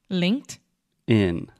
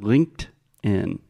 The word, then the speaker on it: LinkedIn: linked in and then when we say it a little bit faster that t gets a little bit softer and faster so if I'm speaking normally like at a conversational speed I will say LinkedIn LinkedIn yes LinkedIn pretty good this is what we call a stop T So as you know